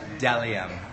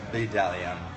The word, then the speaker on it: Bdellium: Sorry, Delium, not Bdellium. The B is silent.